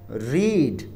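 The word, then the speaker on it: read: पढ़ने का काम हो रहा है, रीड। वर्ब की थर्ड फॉर्म, उसको स्पेलिंग यही होती है, बोलते हम रेड है इसको।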